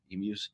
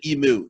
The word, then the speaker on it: emu: But emus, don't say emu to an Australian; they get really mad. It's emu. If you don't say the mu, if you say emu, they get really mad. Yeah, like it's phonetically, it's EMEW.